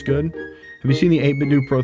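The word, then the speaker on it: 8BitDo: Please, I beg you, pronounce the do like the end of Nintendo do 8bit do.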